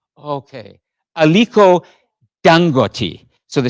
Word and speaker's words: Aliko Dangote: So the pronunciation, the stress is on that third syllable.